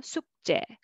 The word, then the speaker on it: 숙제: And 숙제, together 숙제, 숙제. Okay.